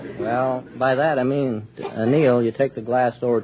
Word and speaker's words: anneal: We anneal it.